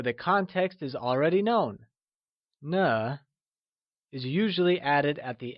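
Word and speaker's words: 呢: nah just like ma na uses a neutral tone and is pronounced using a soft falling sound as if the sound is fading away like na let's try and pronounce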